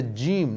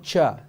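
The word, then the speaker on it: ج: Try not to let any air go through when you're trying to pronounce the letter Jim.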